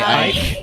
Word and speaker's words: Ike: He goes by Ike. Ike, yeah. Ike. It's nearly just saying I in German.